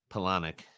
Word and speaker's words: Palahniuk: Uh, I still don't know how to pronounce his last name. I always call it Chuck Palahniuk or Palahniuk. Polonic. Palahniuk.